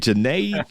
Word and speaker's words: Junaid: I got a guest that say my name rhymes with lemonade. Junaid Lemonade.